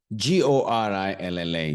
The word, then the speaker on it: gorilla: both okay now let's think of this word g o r i l l a g o r i l a this is